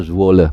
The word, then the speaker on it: Zwolle: Jadi sementara kalau Eliano Reinders main di Zwolle, bacanya Zwolle, pakai V, Zwolle gitu ya.